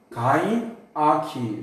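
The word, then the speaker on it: gynarchy: 이게 가인인데 이게 가인이잖아요 발음이. 그러니까 이게 가인아 그러니까 가시나가 된단 말이에요. 가인아키 그래서 붙여가지고 가인아키를 부른 거예요.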